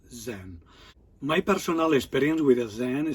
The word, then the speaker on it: Zen: And then through China is going to Korea, then from Korea is going to Japan, and Japan pronounced Zen.